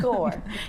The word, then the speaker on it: Corps: it's pronounced core.